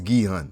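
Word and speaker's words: Gi-hun: let's move on bro I'm pronouncing his name wrong it's guun apparently now going along with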